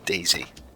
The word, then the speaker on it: DaiZy: And we called it DayZ. It sounds the same, but it's spelled slightly differently.